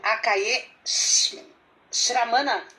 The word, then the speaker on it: Akaiê Sramana: Para apresentar o Akaiê Shramana, é assim que pronuncia?